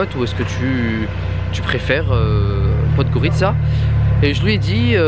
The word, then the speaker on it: Podgorica: Il est passé par Podgorica, qui se prononce comme ça, et pas Podgorica, Podgorica.